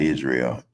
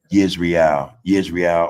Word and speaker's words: Israel: No, it's not Israel. It's Israel.